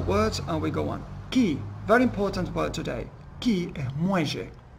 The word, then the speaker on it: quay: Cuando uno escucha acá key, que se escribe Q-U-A-Y, Q-U-A-Y, quay, ¿no? Se pronuncia key.